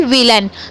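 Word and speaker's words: villain: उसके बाद आई को ई पढ़ें और 2 बार एल होता है या कुछ भी 2 बार डबल होते हैं एक जैसे, तो आपको एक को पढ़ना होता है और एक को साइलेंट रखते हैं। तो एक एल को पढ़ा यानी कि ल और ए आई को फिर से आ पढ़ें और एन को ना पढ़ें यानी कि विलन।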